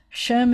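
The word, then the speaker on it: שֵׁם: name or reputation um when i was growing up we would pronounce it as an a and not an i told you in modern israel now that two dots like that is is most often pronounced as an e and so you'd say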